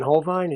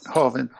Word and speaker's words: Hovind: So I heard Kent Hovine's got Ken Hovine, is that how you say his name? Hovind. He's got he was on